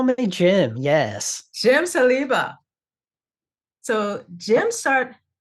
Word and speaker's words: Saliba: Jim you can call me Jim yes Jim salba so Jim start how do I pronounce did I you have it perfect ah very nice so Jim Jim started his career as a software engineer